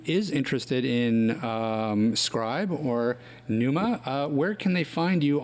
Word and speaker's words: Pneuma: for anybody who is interested in scribe or Numa where can they find you on that whole